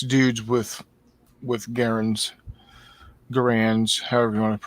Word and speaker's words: Garand: gunners, 6 dudes with Garands, however you want to pronounce it. Yeah, I'm kind of torn. The family pronounces it Garand. Right. Soldiers at the time called it Garand.